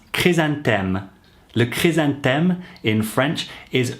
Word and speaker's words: chrysanthème: The flower chrysanthemum, pronounced chrysanthème, le chrysanthème in French, is really associated with this festival.